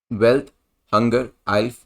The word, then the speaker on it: Welthungerhilfe: तो ये जो नाम है मिलता जुलता वेल्थ हंगर लाइफ से, बट प्रोनाउंसिएशन के अंदर ये अलग है। यहां पर बात करी जाए तो यूरोपियन एनजीओ है concern wide world wide and wealth hunger आइल्फ, जो कि एक जर्मन बेसिकली वर्ड है जिसका मतलब होता है वर्ल्ड हंगर हेल्प।